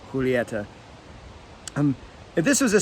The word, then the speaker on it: Julieta: took Spanish in school they don't say Juliet in the Romeo y Julieta that is how that ever be pronounced and that's just how I've always pronounced it and I'm sure there's videos of cigar experts pronouncing it Juliet here's my personal preference is this correct Spanish pronunciation would be Julieta um if this was